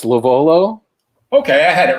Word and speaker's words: LoVuolo: friend andrew who will tell us how to pronounce his last name it's lovolo okay i had it right yeah uh and